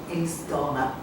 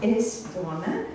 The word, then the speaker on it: Aosdána: She currently teaches poetry at Galway University, and in 2001 she was elected, and I do not know how to pronounce it. Aosdána. Aosdána.